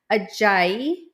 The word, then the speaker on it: Ajayi: Phoebe Aayi. Did I pronounce that right?